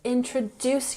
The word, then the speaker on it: introduce: Could you please introduce yourself? Emphasis on the last syllable. Introduce.